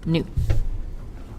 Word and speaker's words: nu: so again this is the Greek letter pronounced new if you don't know